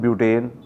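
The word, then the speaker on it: but-: इनू BUT बट नहीं बोलना, ये ब्यूट बोलना। ये प्रोनाउंसिएशन जी ब्यूट है ठीक है।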